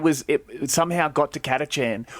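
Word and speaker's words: Kacchan: it somehow got to kachchan or kitatian if you want to say it wrong um and doesn't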